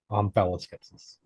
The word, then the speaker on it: omphaloskepsis: Omphaloskepsis. Nope. How do you pronounce it? Omphaloskepsis. Omphaloskepsis. Okay, yeah. Like phallus.